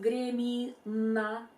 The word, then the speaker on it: Гремина: The syllable na at the end of Gremina and syllable ня in княгиня contains the same Italian vowel a and same English consonant n, but in one word we use hard n and in another we use soften n.